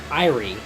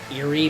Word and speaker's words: Eyrie: With her, they pursued Saturos to the Eyrie atop Mercury Lighthouse. Some people pronounce that Erie, but A-E from the original Latin is pronounced as an I, so...